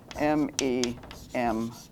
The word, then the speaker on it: memes: memes it's a wonderful idea memes is spelled m-e-m-e-s and pronounced memes and the idea is that just